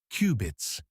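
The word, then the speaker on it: qubit: Instead of bits, they use cubits, pronounced cubits.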